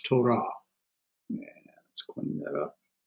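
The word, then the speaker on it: תורה: It's hardening the sound, so it's to ra, and so we have our consonant with a vowel and another consonant following no vowel, so it's a closed consonant. So there's one syllable right here, and here's the other right here. So it's Torah.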